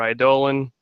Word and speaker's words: Eidolon: it involves severing his connection with his Eidolon, or Eidolon, as it's technically supposed to be pronounced, that's probably not good.